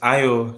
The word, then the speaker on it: IO: do you think um it's IO that's how you pronounce My Name by the way I